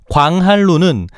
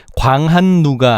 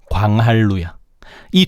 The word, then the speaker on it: 광한루: 광할루는 비록 끄음절이 루 즉 초성의 리을이 왔지만 광한루가 아니라 유화가 적용된 광할루야.이 두 개만큼은 꼭 기억하자.